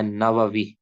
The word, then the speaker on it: نووی: یہ پہلے بتایا تھا، ان کا جو تلفظ ہے نووی، نون کے اوپر زبر، واو کے اوپر زبر، ناوا، آگے واو کے نیچے زیر، ناواوی، 676 کے اندر ان